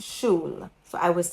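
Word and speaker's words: Schule: You pronounce it like the English word shu and l e e at the end. So it's shul. So I was saying school.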